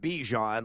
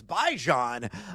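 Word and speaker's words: Bijan: Apparently, it's not Bejon like Djon, you know, squirt sandwich and consume. No, it's Baijan Robinson.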